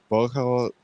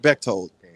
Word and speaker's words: Bechtold: Well, Monday we're supposed to be having an interview with Alex Boko. Did I say that wrong? Yes. Say his name right. Bechtold.